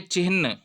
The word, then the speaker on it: चिन्ह: एक तो इस उच्चारण को भी ठीक करिए, यह है चिन्ह। ऐसे लिखा जाए या ऐसे लिखा जाए, ये शुद्ध है। शब्द शुद्धि भी हमारे पाठ्यक्रमों का हिस्सा है। ये जो इसके अलावा लिखा जाता है, ये गलत होगा, ठीक है। उच्चारण भी है चिन्ह, तो चिन्हित करिए, न कि चिन्हित करिए। चिन्हित करिए, गलत उच्चारण होगा।